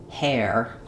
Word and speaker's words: hair: So, I recommend starting with air and then adding your H sound back. So, air hair. If this one gives you trouble, try saying her, bird, air, hair.